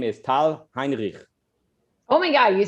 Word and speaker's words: Tal Heinrich: york but uh israeli and her name is tal heinrich oh my god you said it perfect you pronounced it amazing thank you great to be